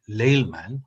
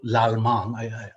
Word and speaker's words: Laleman: but my last name, which you would pronounce as Laleman or Lalman. I love the fact that in India you can just pronounce it Lalman and it sounds like an epithet of Krishna. Yeah, but actually it's a French word, you know.